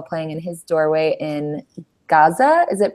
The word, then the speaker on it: Gaza: Was wounded as a result of a rocket attack while playing in his doorway in Gaza. Is it pronounced Gaza?